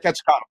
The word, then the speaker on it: Quetzalcoatl: How do you pronounce that, Mark? What's the Quetzalcoatl? You got it. Quetzalcoatl.